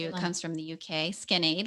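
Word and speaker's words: Skinade: Skin Aid, like kind of like Spell that for Gatorade.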